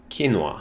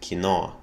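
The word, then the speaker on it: quinoa: our next word is Kino Kino is a type of food it's very healthy the problem with this word though is that most people pronounce it key no because that's how it makes sense it looks exactly like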